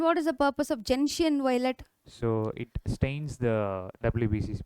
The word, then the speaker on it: gentian violet: So 1% glacial acetic acid, Genesian Genesian violet. Gentian violet, ma'am.